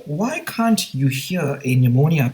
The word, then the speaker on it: pneumonia: can't you hear a pneumonia patient urinating because P is silent and scientists have discovered